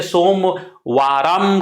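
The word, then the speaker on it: सोमवारम्: हाँ, कुछ संस्कृत के उच्चारण में इसे सोमवाराम कहते हैं।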